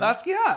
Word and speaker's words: Basquiat: Basquiat, of course.